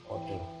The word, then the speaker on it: pada: Berikutnya podo, harusnya tulisannya pada pakai tiga, bacanya podo.